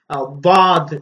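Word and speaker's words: ضاد: இருந்தாலும் வாத் என்று நாங்கள் அதனை சொல்கின்றோம், வாத் என்று. இதுவும் உச்சரிப்பதற்கு கடினமான ஒரு எழுத்து. நாக்கின் ஒரு ஓரப்பகுதியை கடவாய்ப்பற்களின் இடையிலே வைத்து உச்சரிக்க வேண்டும். வாத் வாத் என்று உச்சரிக்க வேண்டும்.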